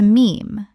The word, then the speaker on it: meme: He took the Greek word mime, meaning something imitated, and shortened it to meme, to rhyme with gene.